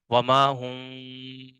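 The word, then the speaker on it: وما هم: کے اندر جو ہے یہ میم کو جو ہے وہ تلفظ کو تھوڑا چھپا دیا، وما ہم، ٹھیک ہے؟ وما ہم، ٹھیک ہے؟ تو میم کو ہم نے جو ہے وہ چھپا دیا ہے، یعنی بالکل ظاہر بھی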